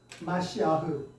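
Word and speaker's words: מָשִׁיחַ: 우리는 그리스도 하죠 그다음에 히브리어는 메시아 원래 발음은 뭐냐 마시 아흐 예 마시흐 히려은 마시흐 뜻은 당 구원자 구원자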